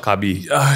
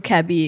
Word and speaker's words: Cabi: I know Cabi is pronounced Cabi though. Not Cabi.